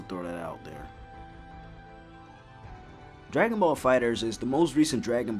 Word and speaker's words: FighterZ: fighters or fighter Z it's pronounced fighters but the Z is emphasized because Dragon Ball Z